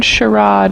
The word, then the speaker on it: charade: you hear that word i heard sharad in the british pronunciation but i often hear